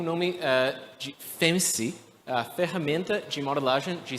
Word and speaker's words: FEMSI: O software tem o nome de FEMSI, a ferramenta de modelagem de cenários de investimentos. Acho que é um pouco engraçado porque a pronúncia dessa palavra é um pouco como fancy em inglês.